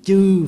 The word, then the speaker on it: chư: Mà đúng ra mình phải đọc là nguyện tiêu ba chướng chư phiền não. Chữ chư mới đúng chứ không phải chữ trừ.